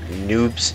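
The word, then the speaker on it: Neub: Neatzo, do you know who Noobs is? You? No, it's spelled N-E-U-B. Noobs. No idea why.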